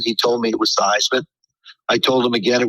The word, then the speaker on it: Theismann: Our sports information director called me in the office, asked me how I pronounced my name. I told him it was Theismann. He told me it was Theismann. I told him again it was Theismann, and I told him it was Theismann.